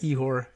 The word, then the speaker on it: Ihor: Ihor, we'll say Ihor.